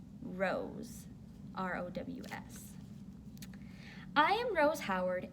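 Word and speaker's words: Rows: To be accurate, it has a homophone, which is a word that's pronounced the same as another word, but spelled differently.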